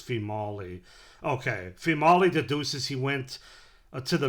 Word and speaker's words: Female: It's It's female in the spelling, but it's actually pronounced female. Okay. Fimali deduces he went to the mission and urges Ina to enjoy New Orleans on her own.